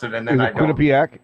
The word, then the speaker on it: Quinnipiac: Quinnipiac? Is it Quinnipiac? Yes, that's what it is.